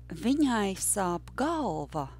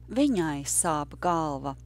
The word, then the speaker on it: Viņai sāp galva: But the sentence that we are practicing today is Viņai sāp galva. That sentence is about a female, third person, her. Viņai sāp galva. And remember that the rhythm was yes, no, no, yes, no.